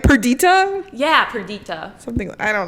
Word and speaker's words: Perdita: Perdita? Yeah, Perdita. Something. I don't know. It's Viola and Perdita.